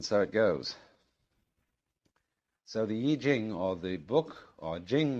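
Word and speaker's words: I Ching: the book of changes called the Y Jing not the Y Ching I'm afraid that the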